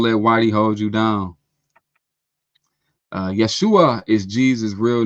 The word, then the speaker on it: Yeshua: Yeshua is what they called Jesus when he was on earth. That's how they pronounced his name.